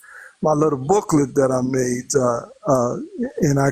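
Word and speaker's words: Maat: name of Egypt and you spell it m a a t and it's called Ma and it means truth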